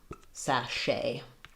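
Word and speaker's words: sachet: Um, and then the the letter a says the a vowel here like in sat. So um sache.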